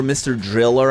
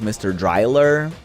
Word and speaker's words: Mr. Driller: Um I remember Mr. Driller I used to pronounce as Mr. Dryer.